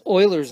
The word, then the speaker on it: Euler: better marca this is Euler's number he's a famous mathematician that's how you write it let you pronounce it Euler and then you know